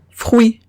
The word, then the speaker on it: fruit: Entonces veo UI y la pronuncio oui.